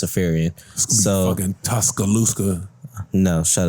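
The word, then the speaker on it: Iriafen: But Kiki Afarian, and I did figure out how to pronounce her last name. It's Afarian.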